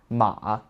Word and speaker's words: 馬: However, despite its form having changed a lot over the centuries, its pronunciation has stayed the same, Ma.